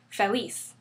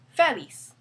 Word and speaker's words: feliz: Therefore, the stress falls on the last syllable. That's why we say feliz, not feliz.